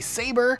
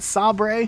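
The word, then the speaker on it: Sabre: in Halo Reach is called a saber it's not sob ray despite what the office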